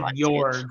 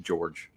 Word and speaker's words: Jorg: Is it Jorg? Am I saying it right? I haven't read it. I always said Jorg. I asked Mark Lawrence way back when, and he told me it was pronounced George.